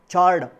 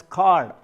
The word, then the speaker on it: chord: Please do not pronounce it as chord. The H is silent here, you call it as chord.